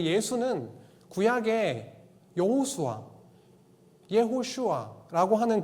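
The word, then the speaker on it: יהושע: 히브리어 발음을 조금 정확하게 쓰면은 여호수아가 이렇게 발음이 됩니다.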